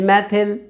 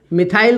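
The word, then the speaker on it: methyl: side chain को मैथिल कुछ लोग इसे मिथाइल बोलते हैं बच्चों मिथाइल गलत उच्चारण है यह मैथिल शब्द होता है इसका आईयूपीएसी नाम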